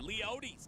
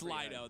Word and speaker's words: Leody: Is that how you say it? Leote. Have you asked Leido? Lido. I always say Lido. It's I just love saying Leody though. Leo. It's It's Lido though. You're right.